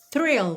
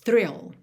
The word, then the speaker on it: thrill: aí atenta às diferenças de pronúncia de fill, que é com F mesmo, e thrill, que começa com TH, linguinha lá na frente, lá nos dentes da frente, e tem R, thrill, ok?